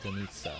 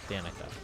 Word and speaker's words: Danica: the the Russian speaking person pronounced as Denita, which is how you would pronounce it in Russian. However, Genchin's Russian spelling of the name uses the K sound, so Danica.